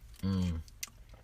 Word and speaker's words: colugo: It's Colugo.